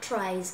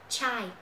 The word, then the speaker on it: tries: About 100 tries. Các bạn để ý nhá, từ này đọc là tries chứ không phải là try, mà là tries.